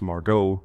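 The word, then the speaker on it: Margaux: Margo, pronounced Margot, Hemingway had already signed a record-breaking $1 million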